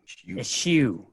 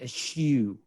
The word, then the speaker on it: eschew: Eschew. It's almost like you're sucking on something sour when you say it. Eschew. Or you're looking down your nose at somebody.